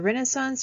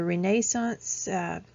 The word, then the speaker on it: Renaissance: We have the Renaissance, or the Renaissance, pronounced both ways.